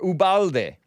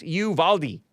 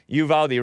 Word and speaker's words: Uvalde: and then i was calling it uvalde or ubalde ubalde texas it's like a border town or